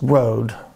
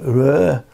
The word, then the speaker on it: Rode: So it wouldn't be pronounced Rode. It would be pronounced something like Rød if it was Danish.